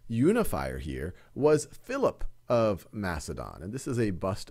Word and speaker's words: Macedon: and becomes king of Macedon or Makka Don as it's often pronounced in 359 BCE and